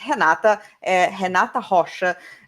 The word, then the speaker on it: Renata Rocha: We pronounce it Renata, Renata Rocha. It is not easy if you are an Anglophone, but if you are a Francophone, it's usually much better.